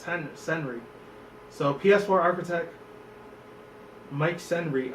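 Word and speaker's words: Cerny: I think that's how you say it, not Henry, but it's Senry.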